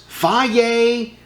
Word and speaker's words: Fage: It says pronounced faye.